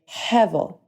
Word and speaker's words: hevel: So if you listen as I'm saying it, I'm saying hevel, hevel, hevel. Yeah, exactly. The word, in one sense at least, means something like breath or vapor, which is where we get that strong sound at the beginning of the word.